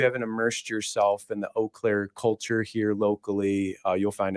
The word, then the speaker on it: Eau Claire: One thing I know for sure is Eau Claire is not pronounced Eclair.